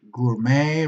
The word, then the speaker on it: gourmet: So remember, basically, these are the words that you have to remember about bouquet, bidet, cabaret, cachet, gourmet, ricochet, valet, and debut. Okay, not pronouncing with a T.